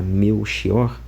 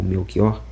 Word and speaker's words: Melchior: esse nome e que a pronúncia eh sobre a ótica da língua portuguesa correta da palavra meu xior ou meu kior é meu xior. É meu porque é com ch, né, aqui em Portugal, então é meu xior.